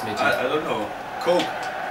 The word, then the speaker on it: Koke: Coke. Like Coke. Like Cola, Coca-Cola. Coke.